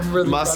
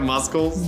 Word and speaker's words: muscle: progress because last week that would have been pronounced musk i got muscles muscle okay okay all right you